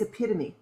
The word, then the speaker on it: epitome: i had no idea and she said it's epitome what i i had no idea that that's how you pronounce it it was like the name you